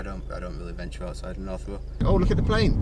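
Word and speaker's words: North Roe: Yeah, North Row.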